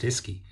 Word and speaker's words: uisce: it phonetically and described it as ischi uisce pronounced iski and as the english language evolved from an